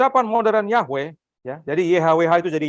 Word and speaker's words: Yahweh: Padahal W-nya itu belum tentu W dibacanya, ada yang bacanya V. Ya. Ya. Makanya ada yang mengusulkan bukan Yahweh tapi apa? Jehovah atau Yehova. Ya. Tapi paling banyak orang menerima adalah Yahweh.